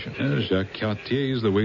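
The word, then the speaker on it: Jacques Cartier: Jacqu, I like the pronunciation. Jacqu Katier is the way it's pronounced.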